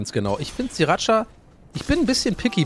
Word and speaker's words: Sriracha: Das heißt Sriracha.